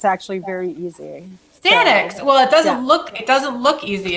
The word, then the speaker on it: Daeninckx: Daeninckx. It's actually very easy. Daeninckx.